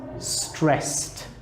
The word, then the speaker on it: stressed: This one, stress, becomes stressed. Can you hear the t sound?